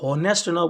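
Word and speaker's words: honest: एन ए एस टी ध्यान रखना ये जो हा है ये हमेशा साइलेंट होगा ऑनेस्ट में हमेशा हा जो है साइलेंट होगा इसे ऑनेस्ट करके ऑनेस्ट बोला जाएगा और यहां आप देख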